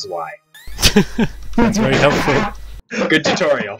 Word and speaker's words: zwei: And they would like me to know that I am pronouncing the Y wrong, because it's actually pronounced Zwei.